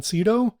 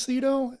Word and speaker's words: Sydow: So it stars Ellen Burstyn, Max von Sydow. That's the way I'm going to pronounce his last name because everybody says it different. And I had a friend in elementary school whose last name was Sydow.